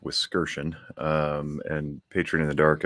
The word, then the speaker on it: Wiskerchen: For anybody who's curious, the last name is pronounced Wiskerchen.